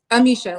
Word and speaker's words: Amicia: Amisha, like Alicia, but Amicia. Am I saying it right when I say Amisha? Yes. Amisha, Indianapolis, 32.